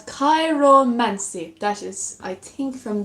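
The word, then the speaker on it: chiromancy: It's called Kairomancy.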